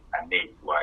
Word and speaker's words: Anesiwa: And like you said, the name is Aneswa. It is spelled Anesiwa.